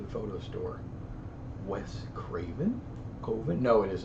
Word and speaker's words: Coven: koven which is koven I know it's pronounced coven but he pronounces it koven uh that camera those